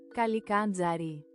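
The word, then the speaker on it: Kallikantzaroi: How do you pronounce that? Goblins! Kalikandzari.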